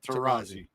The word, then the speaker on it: Taurasi: Their championships all came with the Hall of Famer, Diana, I always say her last name wrong, Taurasi? Diana Taurasi. Yep, Taurasi.